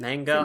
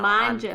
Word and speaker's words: manga: Manga? Manga? I keep don't say know. manja. I'm an English speaker. I keep going to say manja because it's like Italian. That's wrong.